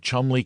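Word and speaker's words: Cholmondeley: Bank Sellers Viccount Berkeley of Chanderlay Castle Warwickshshire pronounced Cubri Thin Landover Marshbank Sellers Viccount Barkley of Chumley Castle Warikshire.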